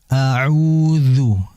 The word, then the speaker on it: أعوذ: A'udzu, dzu ya, hati-hati dalam mengucapkan dzu, jangan seperti du ya, du, jangan dzu. Jadi huruf dzal ini, dia ini cara pengucapannya ujung lidah diapit ya, jangan digigit, diapit oleh ujung gigi seri atas. Dzu, dzu. Jadi akan berbeda dengan du.